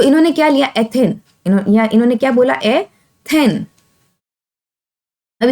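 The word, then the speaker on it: ethene: इसका नाम क्या हुआ एथीन। अब इसके बीच में क्या है ट्रिपल बॉन्ड है, तो इसका नाम हुआ एथाइन। समझ में आ गया आपको, यानी सिंगल बॉन्ड में एन की प्रोनाउंसिएशन आ रही है, डबल बॉन्ड में इन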